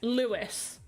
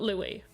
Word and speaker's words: Lewis: Like, that is, pronounce the S, Lewis. Okay, so your name is Lewis, not Louis.